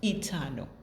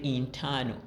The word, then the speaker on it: eternal: Eternal. There are some of you who say internal, eternal.